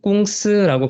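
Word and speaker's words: 公司: 한자로 공사라고 쓰고요. 읽을 때는 꽁스라고 발음을 하는데요.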